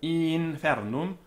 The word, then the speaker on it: infernum: Notice that a vowel before NF is it's long, and it's tense. So infernum, inferni.